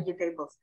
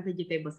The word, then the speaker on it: vegetables: Kayak model vegetables. Vegetables itu adalah salah cara bacanya, bukan vegetables tapi vegetables. Vegetable. Gimana, Mas? Gak dibaca ini A-nya tuh gak dibaca, gak kayak table gitu ya.